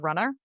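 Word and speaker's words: Runnah: One is a solo podcast that I do called Runner, R U N Ah, um which is how you pronounce it in Massachusetts.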